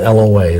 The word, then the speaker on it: Loa: And I may have mentioned this before, but pray that the lying and deceitful spirits of the voodoo Loa, it's spelled L-O-A, Loa, would be bound from influencing that person and from giving that person power.